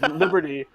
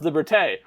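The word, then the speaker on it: liberté: it's uh when uh ha heg uh says Liberty uh and then and then the the joke is it's pronounced liberte well we pulled that audio and we reused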